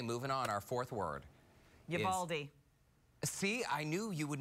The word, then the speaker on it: Uvalde: Looks like Uvalde, but the locals pronounce it Uvalde. Uvalde. Uvalde. Uvalde. You gotta have the real long A.